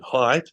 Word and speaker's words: Haidt: I'll give you Jonathan Haidt, which, my wife and I did Google how do you pronounce his name until we found him saying it. Jonathan Haidt, as in how high are you?